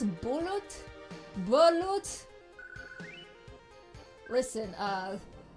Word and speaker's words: balut: the beak is hard but oh it's bullet balut listen uh pronunciation is most definitely not my forte but I appreciate the correction ballot I realize how American I must have sounded ballot You got some of that ball.